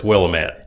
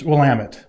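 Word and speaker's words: Willamette: live the willamet valley uh I don't know will Amit will Amit okay so see the Southern Illinois guy says willit yeah it's wamit okay that's that's how it's supposed to be pronounced all right I got you uh we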